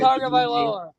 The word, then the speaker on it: Tagovailoa: Tagovailoa. Yeah, everybody got confused. Like, Right, how you pronounce this kid's name?